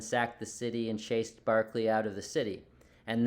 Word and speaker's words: Berkeley: It's Berkeley, like Berkeley Allison's name, or Berkeley, California, but it's pronounced Barclay.